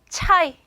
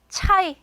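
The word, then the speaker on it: çay: 차 라는 단어가 줬거든요 차는 터키어로 차이 차이 요렇게 발음이 됩니다 차 그다음 알파벳은 요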